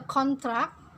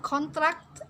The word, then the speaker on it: contract: Consider the difference between the pronunciation of contract as a noun, designate a contract, and contract as a verb. It started to contract.